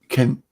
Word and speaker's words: Kent: oh k Ken yeah Kent like the county Kent okay yeah sometimes it